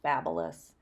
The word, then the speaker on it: BaByliss: and a quarter inch babulus I know it looks like babyless but it's pronounced BaByliss um I am going